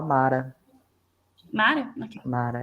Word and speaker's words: Mara: Eu tenho uma dúvida sobre a pronúncia de Marã. É assim A gente mesmo? pode falar Mara.